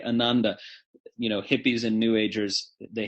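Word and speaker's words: ānanda: This is a good word because most people say it wrong. English speakers say ananda. Wrong. Yes, there is right and wrong in Sanskrit pronunciation. This is not a relativistic language. It is actually wrong to say ananda.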